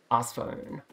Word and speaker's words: Arc Phone: Is it Arcphone or Arsphone? Because it's Arceus with a soft C. Arsphone.